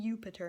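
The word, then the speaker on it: Iuppiter: It's actually Jupiter in Latin, because it's I-U, Jupiter.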